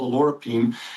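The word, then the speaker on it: oleuropein: Now, the olive leaf extract has something called alorapine. And although it's pronounced different ways, if you hear it, alorapine is how we're pronouncing it.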